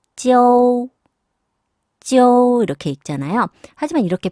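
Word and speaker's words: jiu: O를 빼고 J, I, U로 표기를 한다. 그렇다고 이거를 발음을 그냥 지우로, 지우 이렇게 소리를 내는 것보다는 알파벳 O가 있다고 생각하고 가볍게 약하게 발음을 넣어서 읽어줘야 됩니다. 그러니까 찌오, 찌오 이런 식으로요.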